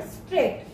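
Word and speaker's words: straight: इसमें जो जी एच है बेटा, इसकी प्रोनाउंसिएशन आप में नहीं आएगी। ये जैसे हमने वर्ड पढ़े थे नो, के साइलेंट है, ऐसे ही जी है जिसमें क्या हो जाता है, साइलेंट हो जाता है। इसमें स्ट र आई ट, तो क्या बना ये वर्ड, स्ट्रेट।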